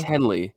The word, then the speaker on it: Henley: Is it Hanley or It's Henley? Henley. It's Henley. Yeah, I don't know why I'm blanking on how to even pronounce his first name, but he is a